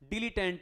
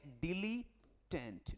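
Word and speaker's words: dilettante: antidote देगा तो antidote aunty को दो एंटीडोट डिलीटेंट यह देखो बहुत ही खतरनाक वर्ड है बेटा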